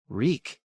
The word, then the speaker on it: Reek: Ring of iron keys reek tears ran down his cheeks I remember I do his mouth opened and closed my name is reek it rhymes with leak in the dark he